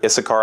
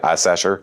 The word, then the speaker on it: Issachar: dan naphtali gad asher issachar i used to pronounce that when i was a kid i sasher uh fun times zebulun